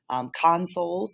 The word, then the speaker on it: consoles: our plural noun form consoles again put that emphasis on the first half of the word and then you've got